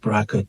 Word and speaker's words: BRCA: So uh recently um there's been more um sort of uh um emphasis on uh the Bracka 2 gene uh and uh so people who